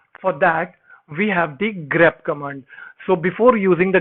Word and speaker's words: grep: Now I want to introduce a new command which is called grep. This is how I pronounce it. So it is actually GREP.